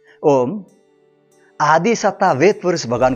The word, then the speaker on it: ओम्: ओम आदि सत्ता वेद पुरुष भगवान को कोटि कोटि प्रणाम आप सबको सादर नमस्कार आदि ध्वनि ओम का उच्चारण ओम ही होने के कुछ पॉइंट्स बताता हूं